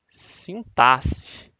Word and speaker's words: sintaxe: sim sim táxi ou sim táxi né a pronúncia correta é sintaxe é que seria mais ou menos né seria